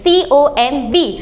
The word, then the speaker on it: comb: तो B को हम यहाँ बिल्कुल भी पढ़ेंगे नहीं, यानी कि जो प्रोनाउंसिएशन है वो सिर्फ M तक रहेगी, COMB।